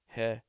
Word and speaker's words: hedonic: Hedonic is hedonic, hedonic. It's hedonic, as in hedonism, but we'll read it like hedonic because you requested that.